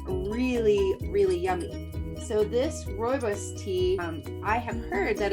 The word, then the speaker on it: Rooibos: So my second tea for the day is rooibos. Can you roll your R's, Dia? Rooibos.